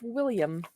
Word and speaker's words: Wilhelm: what's interesting all right that is actually pronounced William I know what I